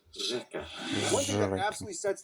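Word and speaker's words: řeka: You don't see here ersh eka. This means river, by the way. Instead, it's pronounced reka.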